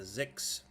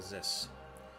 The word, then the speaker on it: XIX: It's the exact same spelling, a different pronunciation. XIX XIX, not ZX. The the navigators are referred to as the Zixs, and the uh guys in front of you are referred to as the Ziss.